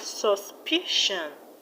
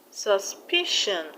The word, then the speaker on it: suspicion: In the word suspicion, the stress will be on the second syllable from the end, which is PI. We have suspicion, suspicion, and in the word coercion,